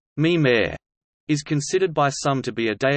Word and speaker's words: Mimir: The computer, called Mimir, pronounced Mimir, is considered by some